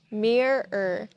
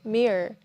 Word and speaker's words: mirror: The first way is with two syllables, mirror, mirror. And the second way is when you speak really fast. You say mirror, mirror.